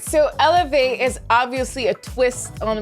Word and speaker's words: Élevey: sounds better than elever i pronounce it elevate just like the french way of saying it and i decided to